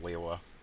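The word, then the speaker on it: Liyue: It's also pretty uh similar to how a lot of people have problems uh pronouncing leewa. Um even though leewa has two syllables. Um it does sound like it has a very subtle third in the middle of it.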